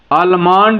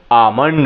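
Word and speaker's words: almond: आलमंड लोग बोलते हैं, आलमंड, लेकिन आलमंड नहीं, आमंड होता है। क्या होता है? आमंड होता है। एल क्या होगा? साइलेंट होगा। क्लियर?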